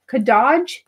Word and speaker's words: Kadaj: Pronunciation was good. Kadaj.